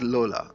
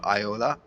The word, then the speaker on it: Lola: to pick Lola right is it Iola or is it Lola do let me know in the comments below because I used to call her Iola uh but I see people spell it out with L and I used to think this is I anyways uh she has